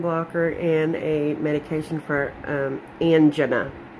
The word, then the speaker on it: angina: He started me on a calcium blocker and a medication for angina. I'm sorry, it's hard for me to say that way, but my doctor said that's the proper way to say it.